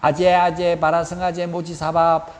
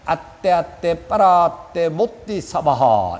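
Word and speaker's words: गते पारगते बोधि स्वाहा: 틀렸어요. 주문은 발음이 정확해야 효력이 있어요. 아떼 빠라떼 못디사바하 이렇게 해요. 그런데 불교에서 우리나라가 중국에서 불교가 들어오다 보니까 한문으로 번역하다 보니까 아제 바라성 아제 모찌 사바하 이렇게 하는 거예요.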